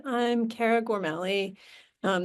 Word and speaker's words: Gormally: So, as Wall said, I'm Cara Gormali. Um, there's actually a family debate about how to pronounce my last name. I'm currently in over on the Gormali side after spending a lot of the summer swimming with my family.